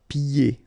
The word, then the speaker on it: pieds: So final S here and then final S here is not pronounced. And then when you get this combination here, it's ye. Pieds. Okay, so you don't hear the D.